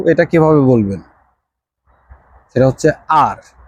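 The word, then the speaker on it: 二: কিভাবে বলবেন সেটা হচ্ছে আর ইংরেজি অক্ষর আর আছে না ঐরকম উচ্চারণ হবে আর চাইনিজ ভাষায় আর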